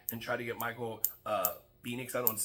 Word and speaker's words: Penix: try to get Michael Penix. I don't want to say his name wrong. I Penix. said Penix. I'm saying penis the whole time, but that's wrong. That's not right.